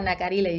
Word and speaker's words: Nacarile: Nacarile, is that how you say it, or say the name for us and tell us more about it? Yeah, Nacarile, you said it perfectly.